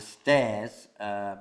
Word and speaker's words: stares: And the stares, scritte diversamente, però pronunciato uguale.